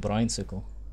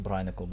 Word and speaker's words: brinicle: Hope you turn into a fucking brinesicle. Well, actually, it's pronounced brinicle, but you get what I mean.